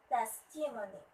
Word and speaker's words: testimony: Testimony. Testimony. It should be at the first syllable.